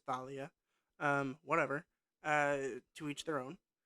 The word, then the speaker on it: Thalia: And essentially, what happens is the tree that was Thalia, who is pronounced Talia in this, which I'm pretty sure it's Thalia.